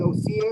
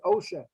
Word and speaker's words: Osha: Remember, I was pronouncing her name wrong. I was saying Osia or something like that. And you said, no, it's OSHA.